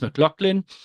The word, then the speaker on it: McLaughlin: This is how my name is supposed to be pronounced, McLaughlin.